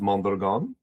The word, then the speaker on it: Mondragon: The correct pronunciation is mandon.